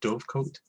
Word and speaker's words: dovecote: like the uh okay how how do you pronounce this again Dove coat okay like the thing where she keeps the